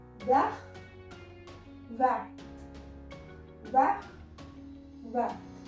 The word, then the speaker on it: verts: Vah. Vah. Vah. Vah. Here also no changes in pronunciation.